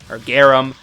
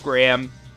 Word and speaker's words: Garam: I was younger, and I never realized that there was an A in between the first R and A.